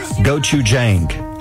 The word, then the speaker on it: gochujang: I think it's pronounced gochujang, I think.